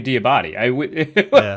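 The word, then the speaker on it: Diabaté: he's like, yeah, well, it's actually Diabate. But that was it's very clearly Diabate. Right. But just basically for like ease of explaining how to say the name, he's decided that Debate is good.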